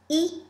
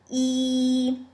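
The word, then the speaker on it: 一: Number one is E. The Y is silent. Just pronounce E. Smile as you say it. You can think of later. E.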